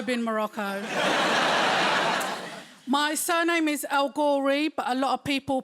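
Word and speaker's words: El-Ghorri: grove you've also been morocco my surname is al gorey but a lot of people pronounce it el hory i've got a massive family guys i've got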